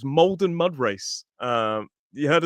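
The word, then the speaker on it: Maldon: Now, this is an interesting one because Molden is spelled M A L. I always thought this was Malden, but it's Molden Mudra Race.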